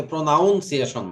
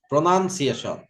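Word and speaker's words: pronunciation: অনেকে প্রোনাউন্সিয়েশন বলে, তা না, প্রোনাউন্সিয়েশন। তো UN হবে, UN হবে না, প্রোনান।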